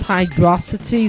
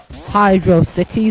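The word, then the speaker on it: Hydrocity: Hydro then City but it's all one word hydrosity so like it's not like velocity velocity is one word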